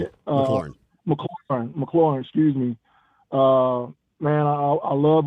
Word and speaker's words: McLaurin: Like, you know, I know Terry McLaughlin. Is that how you say it? McLaurin, excuse me.